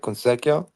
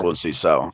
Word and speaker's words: Conceição: Consequio? Yeah, Conceição. The little Conceição. C with the little tail, it really is like an S.